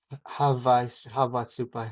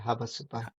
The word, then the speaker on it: Havasupai: Um, the Hawasupi, am I pronouncing that correctly? Havasupi. Havasupi. Havasupai.